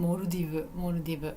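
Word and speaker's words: モルディブ: モルディブ。日本語の発音だとモルディブです。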